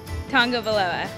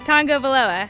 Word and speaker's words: Tagovailoa: There's no N. It's T-A-G. Tagovailoa. Yay. Tagovailoa.